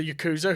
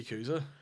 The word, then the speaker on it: Yakuza: the correct pronunciation of the Yakuza. Okay. It's Yakuza. Oh, right, okay. Yakuza? Yakuza. You have to say it with a Japanese accent there.